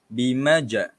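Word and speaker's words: بِمَجْنُونٍ: Kita sebut dia separuh baris atas. Macam mana nak sebut separuh baris atas tu? Okey, ikut saya ya. Bimajnun.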